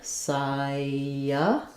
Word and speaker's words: cyanide: Cyanide, first syllable stress.